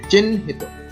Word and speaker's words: চিহ্নিত: চিহ্নিত, চিহ্নিত, এখানে হয়ের সঙ্গে নফলা যুক্ত হয়েছে, এখানে হ এবং ন দুটি উচ্চারণ, উচ্চারণ হচ্ছে চিহ্নিত।